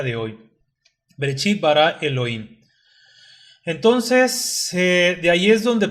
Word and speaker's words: Elohim: primero vamos a entender cómo se pronuncia el plural por qué decimos el login que termina con y m el plural del hebreo